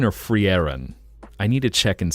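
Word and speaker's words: Frieren: something hashtag a larber cheeky cheeky you think people say free rent yeah I think I'm pretty sure so it is free thank you that's what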